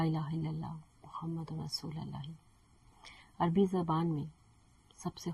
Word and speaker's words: اللہ: کوئی نقطہ نہیں ہے۔ آپ اللہ کا تلفظ کریں اور سمجھیں کہ آپ اسے کیسے ادا کرتے ہیں۔ آپ اس کے حروف کو اپنے حلق کے پچھلے حصے سے ادا کرتے ہیں، بغیر ہونٹوں کو حرکت دیے۔ اس کا مطلب ہے